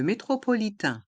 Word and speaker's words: métropolitain: Le métro, le métropolitain, le métro, le métropolitain. Les lettres AIN à la fin du mot métropolitain se prononcent tin.